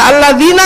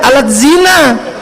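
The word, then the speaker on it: الذين: Nah, orang Sunda baca alladzina enggak bisa keluarnya alat zina.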